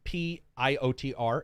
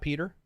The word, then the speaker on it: Piotr: to pronounce this name p-i-o-t-r is that peter piotr there we go i think he said